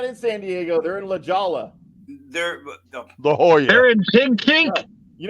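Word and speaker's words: La Jolla: San Diego they're in lajolla they're the whole year you know what when they learn to say it right then they'll sound like me because it's not there's no h anywhere in there did you see what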